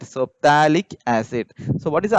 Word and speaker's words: phthalic: this term as pH, phthalic acid. Okay, pH. So here pH is silent. So phthalic acid.